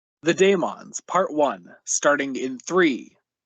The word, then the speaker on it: Dæmons: the daemons part one starting in three two one go and yes i will be saying the daemons this whole time it's not the demons i'll probably end up